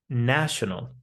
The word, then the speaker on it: national: But when we have this word national, we do not say national. The letter a changes to an a sound. National. National. Not national, national.